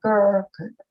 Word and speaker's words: ger: desires to become a ger, equals convert, address the candidate as follows. What reason have you for desiring to become a ger? Don't you Ger. know that Ger is how you pronounce it.